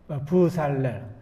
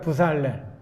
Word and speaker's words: 브살렐: 부살렐. 한번 따라해 볼까요? 부살렐. 발음하기 참 힘들죠? 부살렐.